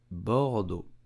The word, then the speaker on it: Bordeaux: it correctly in French you will pronounce it Bordeaux do bordo in French the letters e a u do the sound Bordeaux do you know that